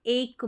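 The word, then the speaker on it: ache: कर रहे हैं जैसे एक में प्रोनाउंस करते हैं इसको आप एच नहीं पढ़ेंगे एक पढ़ेंगे जैसे कि हेडेक में एक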